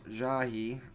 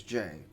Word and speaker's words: Jahy: Also, apparently her name is pronounced Jahy, and as I mentioned before, I used to pronounce it as Jay.